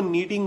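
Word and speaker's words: knitting: A single yarn is यूज, यानी जिसके अंदर सिंगल यार्न यूज होता है उसको नीटिंग बोलेंगे, के साइलेंट है।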